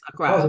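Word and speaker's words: Accra: I went to let me make sure I pronounced it right acuro okay Acra Acra yes Acra beautiful city yeah yeah did you did you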